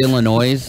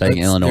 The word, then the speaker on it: Illinois: just like people say Illinois they pronounce the S at the end instead of Illinois there's no s at the end well there is an S but you don't pronounce it right okay so yes